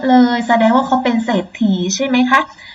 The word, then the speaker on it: เศรษฐี: ปราศรัย เศรษฐี อ่าน ว่า เศรษฐี ตั้ง เรื่อง สังเกต ดู นะ คะ ทั้ง 5 คำ ที่ พูด เล่น เอา เสียง ไป ครู ออก เสียง เรือ หรือ เปล่า ไม่ ออก เสียง พยัญชนะ เรือ นะ คะ ติด ต่อ มา พยัญชนะ